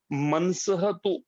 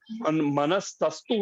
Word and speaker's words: मनसस्तु: इसमें दो शब्दों का उच्चारण थोड़ा ध्यान से करना है कि मनसह तु परा बुद्धि, मनस तु, मनस मनस्तस्तु नहीं है, मनस तु परा बुद्धि।